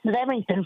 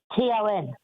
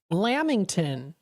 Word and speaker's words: Lamington: I've even got another one that's Leamington flavor. It's what flavor again? I'm sorry. Leamington. Remington or Leamington? No, Leamington. I've never heard of that before. Leamington is spelled Lamington. Lamington.